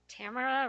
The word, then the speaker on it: Tamara: Tamara rhymes with Tamara Kaplan. That's how she told me to say it.